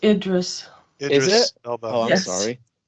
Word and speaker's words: Idris: but i'm just like hydras elba's getting up there in age but what about idris alba for doctor who interesting it's pronounced idris is it oh i'm